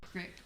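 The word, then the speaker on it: creek: Why do you, I couldn't understand why C-R-E-E-K was pronounced crick, but it was. Oh, crick. In Idaho, it was crick. You're crick. And I Kind of like I why remember- OIL is pronounced oil. Oh, I- oh, I can remember wondering, why do we say crick when it's got two E's in it? And that was how it was pronounced, was crick.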